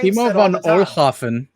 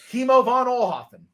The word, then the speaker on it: Kimo von Oelhoffen: Kimo von Oelhoffen. Kimo von Oelhoffen.